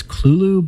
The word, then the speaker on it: Cthulhu: anyone really know uh i think that generally lovecraft's scholars pronounce it as clulu but then again he